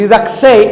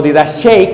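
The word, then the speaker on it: didaché: La palabra doctrina es una palabra griega que dice que se pronuncia didaxe. Y didaxe o didachei, como se dice, es el conjunto de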